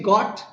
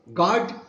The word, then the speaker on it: got: You got, instead of saying got, he pronounced God.